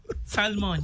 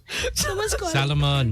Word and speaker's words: Salomon: Salmon, yeah. Salomon. Salmon. Alam mo? Not salmon. Ano ba Salomon. Salmon o Salomon? Salomon.